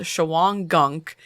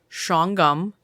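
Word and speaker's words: Shawangunk: is nestled in the foothills of the now it's spelled Shang Gunk and we called your mom to confirm and I put it in parentheses it's pronounced shongum mountains in the small town of napon Napo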